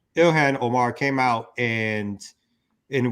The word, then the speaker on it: Ilhan: omar came out um pronounced her first name for me ilhan ilhan omar came out and